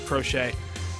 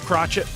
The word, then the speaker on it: Crochet: Terk scoble Garrett crochet I think I thought you say his name is crochet um or if it's crotchet my bad but I'm GNA assume it's crochet um we've got some